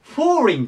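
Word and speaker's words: foreign: ですが、これで、フォーリンと言います。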